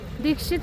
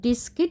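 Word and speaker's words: Diskit: আমরা এখন এসে পৌঁছালাম দীক্ষিত মনেস্ট্রি। এটার আসল উচ্চারণ হচ্ছে ডিস্কিট মনেস্ট্রি। মানুষ কথায় কথায় এটাকে দীক্ষিত মনেস্ট্রি বানিয়ে দিয়েছে।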